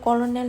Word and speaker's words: colonel: jagani mung ungkha cornell chomuni English ba hingke colonel hin chijak Bangla ba hingke cornell hin chijak aboni bagai pronunciation chai rok hingke anu na kardi yo